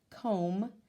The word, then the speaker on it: comb: B at the end comb with the silent B at the end sign with the G